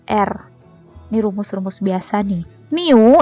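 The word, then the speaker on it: μ: Di rumus-rumus biasa nih Miu ini cara bacanya miu-miu = Q dikali Hai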